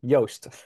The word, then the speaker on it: Joost: So next is Joost. Phonetically, it's toast with Y. Joost.